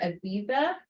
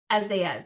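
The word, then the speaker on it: Azaiez: Aziza. Did I pronounce that correctly? It's actually Dr. Azia. Oh, I can't even get it wrong. I have to do it all together. Dr. Hafed Azayez, and we call him Dr.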